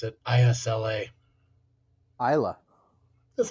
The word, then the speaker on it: Isla: No, I think the S is silent. Why even have it? Mm. Why not just go Eila?